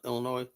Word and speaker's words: Illinois: You know, Illinois. S is silent.